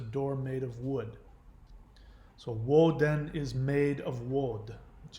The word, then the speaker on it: Woden: But bear in mind that Odin is not his original name. That is the Norse dialect pronunciation. His name is actually Woden, not Odin.